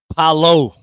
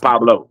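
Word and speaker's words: Paolo: Paulo. Paulo. It's not Pablo. Paulo.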